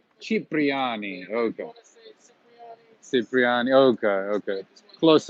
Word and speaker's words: Cipriani: How do you pronounce this name? I've always walked by Chirpani. Cipriani.